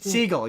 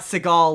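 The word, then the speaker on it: Segel: Well, Jason Seagal Seagull. You've got me for mispronouncing it now. It's Jason Seagull as in the animal seagull. Um Jason Seagull, not Seagal like Steven Seagal.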